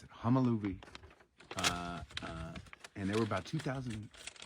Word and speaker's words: Homolovi: Homolovi. That's how you pronounce it. Homolovi.